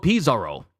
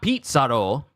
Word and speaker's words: Pizarro: already going in on Avalo Pizarro. Not Pizarro, Avalo Pizarro. I'm probably going to call him just Pizarro from here on in because I've been saying his name wrong.